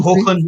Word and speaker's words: Hoechlin: Hoechlin. It's pronounced. Hoechlin.